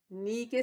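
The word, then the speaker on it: knee: घुटने को इंग्लिश में क्या कहते हैं के नीचे स्पेलिंग है कि एनडब्ल्यूडीए ने घुटना तुम इसमें फ्लैट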